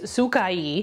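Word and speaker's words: Sacai: and this trench now if you go by the Japanese pronunciation which I looked up it's sukai however you know we mad New York over here so I'm going say Sakai right so this is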